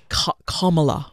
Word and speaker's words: Kamala: Kamala. Kamala Harris. Kamala. Like Pamela. Like comma chameleon.